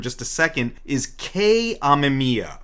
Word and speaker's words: Amamiya: a second, is Kei Amemiya. Amamiya. Amamiya, yes. The kanji, like, it could be pronounced either way, but she specifies Amamiya.